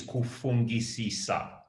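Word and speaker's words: kufungisisa: for that question and the pronunciation is kufungi sisa which literally means thinking too much you know that is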